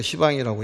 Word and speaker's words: 시방: 동서 동남서북에 간방 8방에 상방 하방이면 10방이 되는데이 발음먹기가 좀 어려우니까 시방이라고 얘기를 하죠.